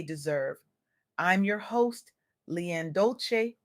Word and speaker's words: Dolce: I'm your host LeAnn Dolce, pronounced "dolce" like sweet softness whispered in French.